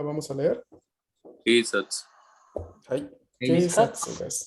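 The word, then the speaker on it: 警察: Ahora, aquí sí la U la vamos a leer. No, la U se lee porque en este caso no es la sílaba su la que tenemos, sino tenemos la sílaba tsu, TSU. Bueno, entonces en este caso la U se lee, no se puede omitir. ¿Sí?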